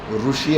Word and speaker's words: ఋషి: కురు అంటారు, ఋషి అంటారు, రూ కాదు అది రి, అట్లా రావాలి ఉచ్చారణ. మరి దాని స్థానం మూర్ధ.